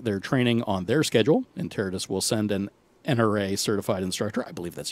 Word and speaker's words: Interitus: Most people go Interitus. That's wrong. No, okay. So, Interitus.